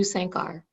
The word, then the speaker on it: Sankar: name slowly oh sure the way I pronounce it is Sankar do you say Sankar my husband tells me